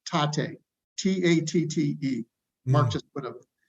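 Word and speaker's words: Tatte: It's called, I always pronounce this wrong, Tate, T-A-T-T-E.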